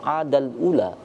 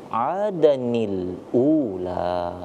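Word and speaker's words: عَادًا الْأُولَى: Maka tidak bisa kita langsung adal ula, tapi perlu ada semacam nun wasal, atau ini sering juga disebut dengan nun wiqayah. Maka itu kenapa kita bacanya adanil ula, seperti itu ya.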